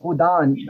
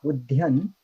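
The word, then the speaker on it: udana: It should be um I believe number six is udan not udhan but I don't know about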